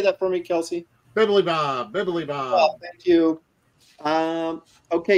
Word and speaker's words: Bibilibob: Bibliobob. Okay. Will you say that for me, Kelsey? Bibilibob.